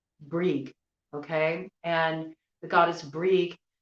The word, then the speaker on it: Brig: Some people may call it Bridget. Okay. And that would be a modern pronunciation, but old, Irish Gaelic, it would be Brig, okay?